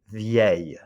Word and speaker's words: vieille: ends in ILLE, so please do not say, don't pronounce an L. I'm not going to even say it. I don't want to put it in your ear because it's wrong. It's pronounced like this. Try it, vieille. D'accord? Vieille. Just like famille and bouteille, you've got vieille. D'accord? A little Y sound at the end.